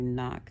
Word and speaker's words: knock: w uh when you knock the the K is silent uh and the anagram